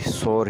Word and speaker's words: sore: हमारा जो अगला लफ्ज़ है वो भी सोर ही है, लेकिन उसकी स्पेलिंग और मीनिंग मुख्तलिफ है, यानी SORE, सोर। सोर मतलब दुखता हुआ या दर्द देता हुआ।